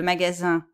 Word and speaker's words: magasin: faites bien attention que le magasin où on va acheter les choses c'est nasale ya pas de l'insee 1 le magazine c'est comme en anglais c'est une revue c'est